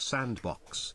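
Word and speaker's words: s&box: Sandbox, pronounced sandbox, is an upcoming open-source video game development platform and engine by Face Punch Studios.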